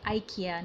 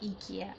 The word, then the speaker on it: IKEA: Okay, the pronunciation is supposed to be IKEA, not IKEA.